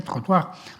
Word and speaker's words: trottoir: Todavía en alemán existen muchas palabras francesas que se usan, como por ejemplo trottoir, acera, pues se dice en francés, se dice trottoir.